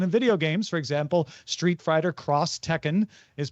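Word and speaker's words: Street Fighter X Tekken: In Japan, when you see an X in marketing, it's usually pronounced cross. This is very prevalent in video games. For example, Street Fighter Cross Tekken is pronounced that way.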